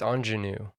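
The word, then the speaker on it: Aunjanue: nominated for the oscar anjanu i think it's ingenue yeah we were looking it up yeah and that's how they were pronouncing it but i yeah that's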